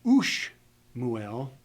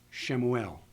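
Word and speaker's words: שמואל: So we don't say Ush Muel, we say U and Shemuel, Samuel.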